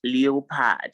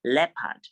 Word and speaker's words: leopard: a team leopard yes this example it is not leopard stop saying leopard please it is pronounced leopard say leopard leopard leopard and then we also